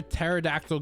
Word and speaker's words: pterodactyl: can't you hear a pterodactyl go to the bathroom the p is silent on that note i'ma